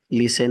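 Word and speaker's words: listen: কম এখানে be silent লিসেন এখানে টি silent honest এখানে এই সাইলেন্ট যাই হোক এই পাঁচটি নিয়ম মনে রাখলেই আপনারা প্রনাউন্সিয়েশন অনেক ভালো করতে পারবেন।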